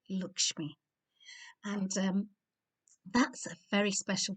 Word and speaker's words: Lakshmi: And well, I'm going to spell it properly because it's Lakshmi when I write it, but I know it's always said like Lakshmi.